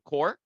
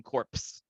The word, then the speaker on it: Corps: television series called The Core. And guys, yeah, you don't pronounce the P at the end of Marine Corpse. The minute they say Marine Corpse, you know, it's We